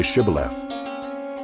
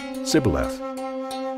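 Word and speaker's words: Shibboleth: they said to him then say shibala and he said sibyllath for he could not pronounce it right then they seized him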